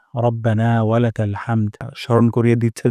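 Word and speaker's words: رَبَّنَا: প্রথম শব্দটি হলো রব্বানা এখানে র মোটা করে উচ্চারণ করব না এখানে এক আলিফ পরিমাণ মাদ করব রব্বানা রব্বানা তারপর হামদ এখানে হামদ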